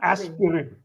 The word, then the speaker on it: aspirin: There is no aspirin. No, there is no aspirin or you don't have to say the I at all. So, it's aspirin.